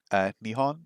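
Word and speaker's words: 日本: Although Nihon is the correct pronunciation, right?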